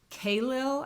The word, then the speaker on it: Khalil: The first thing I got was The Prophet by I never know how to say this person's first name. Khalil, I think is how you say it, Gibran.